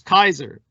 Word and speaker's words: Caesar: donned the purple was kaiser tsar khazar the original pronunciation of caesar in the latin whoever donned the purple